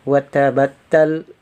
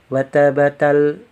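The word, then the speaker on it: وتبتّل: Nah, terus di sini ada kata watabattal, watabattal ya. Kalau tanpa tasdid ya kita membacanya watabatal, watabatal. Nah, kalau ada tasdid tekan di huruf yang bertasdid tadi.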